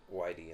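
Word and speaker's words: Weide: years whitey whitey yeah i think he pronounced it whitey in the trailer all right robert b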